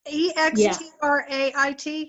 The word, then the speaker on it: extrait: EXTRAIT. Extrait. Extrait. Extrait de parfum. I'll never get that right. I barely can get my name right. So Is it like extract and straight mixed?